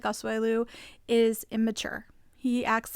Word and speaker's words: Asuelu: And Angela actually pointed out that Michael and I keep saying his name wrong too. I think I am. What's his name? Asuelu.